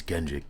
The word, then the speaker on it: Kendrick: My name is Kendrick. K E N D R I C K. Sounds like Dominic, but that's not my name.